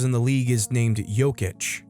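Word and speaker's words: Jokić: the best players in the league is named yic j k i c and then there's some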